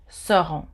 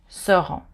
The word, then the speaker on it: seront: Ils, elles seront. Ils, elles with an S, seront. You don't pronounce the T at the end of seront.